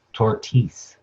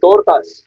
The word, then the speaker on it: tortas: And so she's referencing the tortas her mom used to make by first starting off by mispronouncing them as tortis.